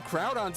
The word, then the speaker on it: Groudon: That's why I always forget its name because Groudon's easy. It's ground. Groudon. But Kyogre, it's like what? That's not even That's not a word. And I know a lot of Pokemon aren't words like Groudon.